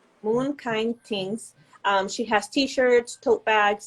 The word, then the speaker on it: Moon Kine Tingz: Can you pronounce that for me? Moon Kine Tings. Moon Kine Tinghz.